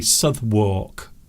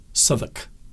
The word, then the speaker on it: Southwark: And quite often people will say Southwark, because that is how it's spelt. But it's not pronounced like that. Southwark.